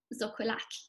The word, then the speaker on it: xocolatl: Here we have the Nahuatl word for chocolate, pronounced zocolac.